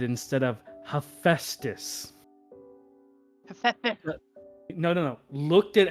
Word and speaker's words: Hephaestus: child said instead of Hephaestus? No. Looked at how it was spelled. How do you think I said it? I'm gonna guess you pronounced the P. No, I said hepatitis.